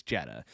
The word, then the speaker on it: Jeddah: And then we're going to be talking about, is it Jeddah? Is that the right way to say it? I think it is. I looked it up. I actually, I'm baiting you right now. It's Jeddah.